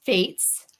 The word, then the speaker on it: Faatz: This is Charissa talking with Baltimore's own author, Faatz, rhymes with Kaatz.